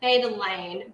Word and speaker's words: betalain: to get some beta betalain betalain i believe how we pronounce that so it's like similar to beta-carotene which is orange which